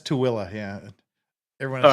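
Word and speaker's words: Tooele: ever pronounce it correctly that is pronounced tooilla to Willow yeah that's too Willa yeah everyone all right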